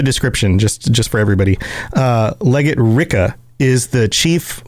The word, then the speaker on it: Rikke: I think technically her name is pronounced Ricka.